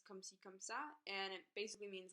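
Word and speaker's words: comme ci, comme ça: for five years so that pronunciation was so offensive the real way to say it is come see come saw and it basically means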